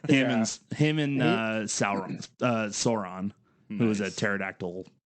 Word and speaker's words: Sauron: that pterodactyl man yeah it's not it's not Sauron it's Sauron is this okay yeah